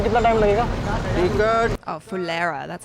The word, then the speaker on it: Phulera: Oh, Phulera, that's how you say it.